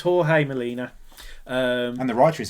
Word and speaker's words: Jorge: I think it's Jorge Melina. Not George. Jorge. Yeah, not George. He's spelt. It's going to be like a Spanish type of George with a J.